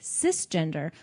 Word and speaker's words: cisgender: However, the correct word is actually cisgender, which is pronounced like sister, not cyber.